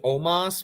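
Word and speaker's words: Omos: choosing to ignore it Omas will not win in the world championship almost almost I mean I mean the way they pronounce it on WWE is Omas but like I'm not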